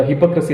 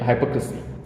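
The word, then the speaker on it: hypocrisy: आहे तो म्हणजे ढोंगीपणा इंग्रजीमध्ये आपण भारतीय लोक त्याला हिपोक्रेसी अस म्हणतो पण ज्याच क्चुल प्रोनन्सिएशन आहे हायपोक्रसी तर ्याचा एक उत्तम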